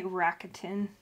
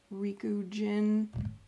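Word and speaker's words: Rikugien: can't pronounce his name I always want to say rakatin but that is not it Riku gin this smells it's old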